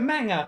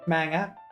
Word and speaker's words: manga: It's a manga. That's what it is. Was it a manger? How do you pronounce it? That's how Natsuki pronounce it. Manga.